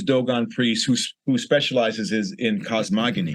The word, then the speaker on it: cosmogony: priests who specializes in cosmogony. How do you know was a word? Not cosmology, cosmogony. Yeah. I thought you were saying it wrong. Says no, it's cosmogony.